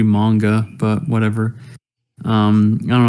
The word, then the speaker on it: manga: would be even though they pronounce Japanese words wrong like manga mangatronics yeah it's supposed to be manga but whatever um I